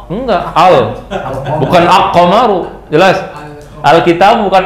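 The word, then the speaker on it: الكتاب: enggak bisa aqaru enggak Al bukan aqamaru jelas alkitabu bukan aitab salah jelas namanya Kenapa kok ini dibaca alnya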